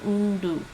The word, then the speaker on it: 온도: Sounds like she's saying undu.